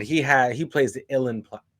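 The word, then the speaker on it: uilleann: illin illen pipes but the way it's spelled I could never wrap my head around how to pronounce it everyone tried to help me out but it's just like you in you in pipes and I'm just like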